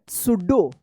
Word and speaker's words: pseudo: सुडो। यहाँ पे भी क्या है? पी साइलेंट है, सुडो। अब देखिए यहाँ पे PTERODACTYL।